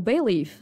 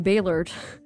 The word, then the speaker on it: Bayleaf: I decided to uh switch from Bailey art to bay leaf so people can actually say my name right and not call me bayor I mean I understand